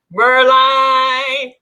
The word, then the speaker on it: Merline: Line is my last name. It is pronounced just like the word Merline.